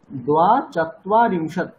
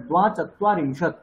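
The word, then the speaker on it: দ্বাচত্বারিংশৎ: কেমন হবে উচ্চারণ চত্বারিংশত দ্বা চত্বারিংশত দ্বা চত্বারিংশত চত্বা নয় চত্বা চত তয়ে বয়ে আছে তাহলে চত্বা চত্বা মানে চত্বা হ্যাঁ প্রথম জায়গায় একটু স্পেস দিতে হয় তয়ে বয়ে আছে মানে চয়ে পরে চত্বারিংশত দ্বা চত্বারিংশত বেশ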